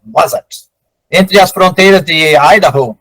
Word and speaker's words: Wasatch: Na cordilheira Wasatch, acredito que seja assim a pronúncia, Wasatch.